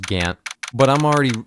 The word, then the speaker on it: Gaunt: I know it's pronounced Gant, but I'm already mispronouncing everyone's names on purpose, so I might as well.